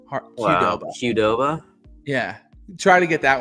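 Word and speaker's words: Qdoba: and they said, "Yeah, it's a hard Q hardova."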